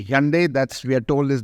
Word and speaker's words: Hyundai: a company that's been in the news uh Hundai or we should say Hyundai that's we are told is now the correct pronunciation Hyundai which maybe arriv with Sunday that's one way